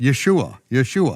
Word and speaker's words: Yeshua: There's no other way to pronounce it. Yeshua.